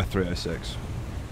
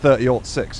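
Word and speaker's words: .30-06: Yeah, I thought they were 306. It's 30-06 is the way the Americans say it.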